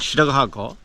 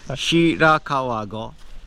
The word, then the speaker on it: Shirakawago: This is called Shiragago. Hang on. How'd you spell that? Oh boy. Don't worry about Phonetic. Shirakawago.